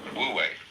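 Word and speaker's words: 無為: So the transitional word, which shows the way from to realize De in one's life, this is pronounced, this one is Wu, this one is Wei, Wu Wei.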